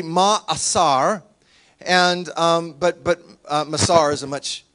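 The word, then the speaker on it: מעשר: Now the second word is masar, is how we pronounce it because we're Americans and silly. In Hebrew, it would be ma'asar.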